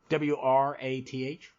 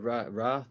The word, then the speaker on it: Wrath: I'm assuming that's what they want you to pronounce, that weird spelling, W-R-A-T-H. Yeah, I think it's Wrath or Wrath, yeah.